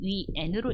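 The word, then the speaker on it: 元: 나중에 하게 되면 뭐 뉴스에서 근데 하나 좀 짚고 넘어가자면 뉴스에서 이거를 자꾸 이 발음을 위안이라고 하는데 위안 아니에요, 여러분들. 여러분들은 중국 공부하시니까 위안 말고 위엔으로 읽어주세요.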